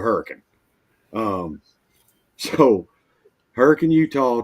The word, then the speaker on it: Hurricane: from Hurricane Utah and I know it's spelled hurricane but if you go there and you say Hurricane Utah they're going to know you're a tourist because they call it a hurricane um so hurricane you